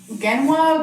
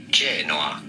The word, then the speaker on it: Genoa: "A" but in Italian this is to be pronounced "Gen-O-A". Gen-O-A pretty straightforward.